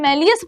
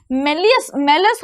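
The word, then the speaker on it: malleus: बच्चा हिंदी में मेलियस pronounce करते हैं, मेलस होती है, और कौन सी होती है, इनकस होती है।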